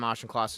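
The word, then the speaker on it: Auchincloss: I don't know how to pronounce his name. Uh Ashenclaus.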